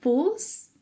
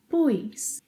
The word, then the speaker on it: pus: Bom, no pretérito perfeito do indicativo, temos o seguinte: eu pus, você, ele, ela pôs, nós pusemos, vocês, eles, elas puseram. Vocês ouvirão alguns brasileiros falarem pus com um pequeno i, pus.